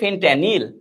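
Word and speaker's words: fentanyl: ফেনট্যানিল এরকম নাম উচ্চারণটা হবে, ফেনট্যানিল, ঠিক আছে, মানে একটা মাদকের নাম।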